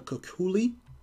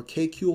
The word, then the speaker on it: Kekulé: which is called the Kekulé or K-Kule structure. So K-E-K-U-L-E with a little accent mark above the E. So Kekulé or K-Kule, depending on which professor you get, because they pronounce them differently.